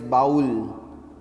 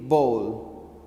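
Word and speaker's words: bowl: the correct pronunciation is ball yes because W is not to be clearly pronounced to hear many of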